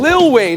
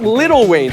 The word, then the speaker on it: Lil Wayne: Lil Wayne, not Little Wayne. Stop saying it like that.